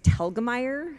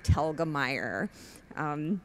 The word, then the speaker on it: Telgemeier: for my last name it's talgamite which rhymes with the name Helga and tire so Helga tire tell gamaya yeah it's tricky it's German books I'm a